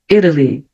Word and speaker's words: Italy: E aqui eu tenho a letra T entre duas vogais. Então, vai ficar o som de R. Italy. Então, o T ficou um somzinho de R porque eu tenho uma vogal antes e outra depois.